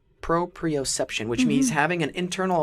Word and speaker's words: proprioception: new word today let's see if I can pronounce it correctly Pro preoception proprioception which means having an internal awareness of your